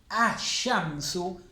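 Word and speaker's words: الشمس: Ash-shamsu, el sol. Estoy poniendo el artículo sin pronunciar la L.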